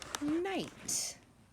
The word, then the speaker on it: knight: We have a silent K that we can't hear. I G H T, knight. You're going to write knight again in your best handwriting. Don't forget that silent K at the beginning.